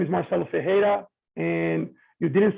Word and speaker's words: Ferreira: as you introduce me my name is Marcelo fejera and you didn't say it correctly but it's